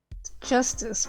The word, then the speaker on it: Justice: Justice.